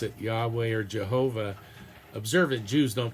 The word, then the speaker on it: Yahweh: name of God uh typically now pronounced Yahweh. A more old school pronunciation of course was Jehovah.